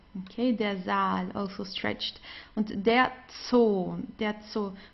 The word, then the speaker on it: Zoo: Please get used right from the beginning to the German Z, okay, it's very strong. Zoo, der Zoo. Okay, so here a long O also. That's so, but it's basically the same as in English. Here you also say zoo, right? You don't say so or so, so you say zoo. It's the same in German.